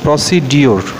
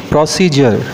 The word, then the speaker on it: procedure: তো আরেকটি শব্দ দেখো, তো প্রায় দেখি আমি তোমরা PROCEDURE শব্দটিকে উচ্চারণ করে থাকো প্রসিডিওর। তো সঠিক উচ্চারণটা দেখো প্রসিজার, ব্রিটিশ ইংলিশে আর্ট সাইলেন্ট থাকে এবং আমেরিকান ইংলিশে